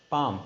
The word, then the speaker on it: palm: It's a palm. P-A-L-M. L is a silent word.